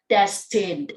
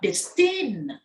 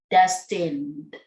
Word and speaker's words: destined: terrifying terrifying fifth moment six destin destined not distinct destined seventh chance not chance